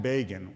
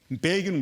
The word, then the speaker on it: Begin: Begin was vilified. Time magazine says, infamously quipped, that Begin rhymes with Fagin, the unsavory Jewish fence in Charles Dickens' Oliver Twist.